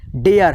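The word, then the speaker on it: dare: ठीक है, आर ई आना चाहिए तो आपको ए का उच्चारण करना ही करना है। ठीक है। डेयर है, डी ए आर ई, डेयर, डेयर means होता है हिम्मत।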